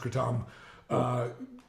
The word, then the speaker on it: kratom: They should make sense because there's you know what kratom is, right? Yeah. Katom, technically it's pronounced Katom.